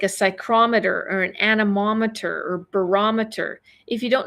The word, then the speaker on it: anemometer: Okay, anemometer. Lots of syllables in that one, okay?